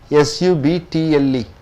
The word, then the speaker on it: subtle: S-U-B-T-L-E. It is a noun. How do you pronounce it?